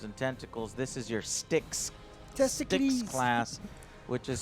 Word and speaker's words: Styx: one has pustules and tentacles this is your sticks Jessica's class which is spelled s-t-y-x yep like the River Styx class